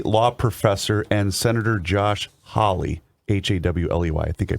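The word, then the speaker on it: Hawley: between what's his name holly is it howly is that how you pronounce his name yes and that professor i did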